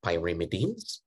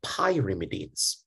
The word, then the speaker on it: pyrimidine: And I have another personal mnemonics under the pyrimidines. So I want you to pronounce it as pyrimidine, not pyrimidine, because if you pronounce it like pi, you actually cut the pi.